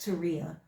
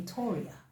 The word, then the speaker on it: Tauria: hear this guy say, "Now my name is pronounced Teria, but if you don't know me and you see the spelling, you call me Toria."